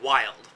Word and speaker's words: YLDE: We pronounce that wild.